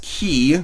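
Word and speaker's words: χ: The final canon game before Kingdom Hearts 3 is Kingdom Hearts Key, spelled with an X, Greek letter, don't you know, which started life as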